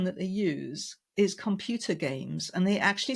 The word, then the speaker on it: Gamse: name is games and we say games we spell it g Ms e right don't ask it's